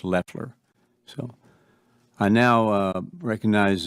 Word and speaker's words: Loeffler: The administrator last name is pronounced Leler.